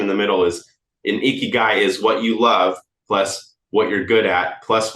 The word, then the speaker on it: ikigai: every Creator makes this graph it's called an ikigai it's spelled i k i g a i if they find their icky guy it's the it's when all four of those